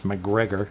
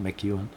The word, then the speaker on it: McGregor: But after he went and did what was necessary, because the presence that is in the old, and I got the name wrong yesterday, it's McGregor, not McEwen.